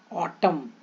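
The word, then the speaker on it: autumn: की past tense should an कहां silent होता है एम के बाद जब आता है ऑटम ऑटम ये स्पेलिंग तो बहुत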